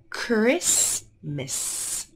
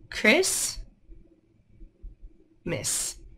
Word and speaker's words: Christmas: t and more letters the t is quiet listen listen so T is quiet here the C says C